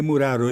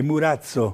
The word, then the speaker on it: Murazzo: Sim, o sobrenome é Murazzo. Certo. Não é Muraro, é Murazzo. Murazzo, a pronúncia correta é Murazzo.